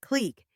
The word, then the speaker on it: clique: A clique, pronounced clique, is a small exclusive group of people who don't readily allow others to join them.